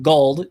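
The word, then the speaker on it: Guld: was this it's by michael gold i think that's how you say his name gold g-u-l-d and the name of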